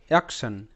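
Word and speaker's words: action: ওকে, সো এখানে first শব্দ AC, এক, TION, শান, অ্যাকশন, অ্যাকশন। AC, এক, TION শান। তো এখানে কিন্তু TION একটা প্যাটার্ন, শান উচ্চারণ করে এবং টি এখানে তালব্য স হিসেবে উচ্চারিত, অ্যাকশন।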